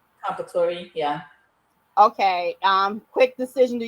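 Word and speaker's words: Comperatore: How do you pronounce his last name? Compatori, yeah.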